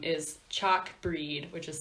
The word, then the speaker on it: Bhríde: oh cool it smelled like bride but it's pronounced breed yes mm-hmm I knew that I was just